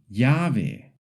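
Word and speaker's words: llave: For example, yamar to call yave key and cay street. So when you see two L's together, just make a smooth y sound like in yes.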